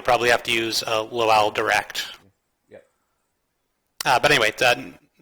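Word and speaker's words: LOAL: So, lock on before launch is pronounced low ball. Lock on after launch is low owl.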